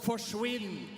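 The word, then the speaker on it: forsvinn: up in Norway we have a word that's called forwin and it rhymes with Quinn so it basically means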